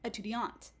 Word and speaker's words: étudiante: So for example, in the masculine, you also have a null, and you'll get étudiant. But in the feminine, whereas you'll have an E written, what that actually signals is that you're just going to pronounce the final consonant. So you get étudiante.